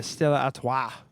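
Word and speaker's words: Stella Artois: by the way yeah Stella at say it like there's a golf ball in the back of your throat uh September 3rd for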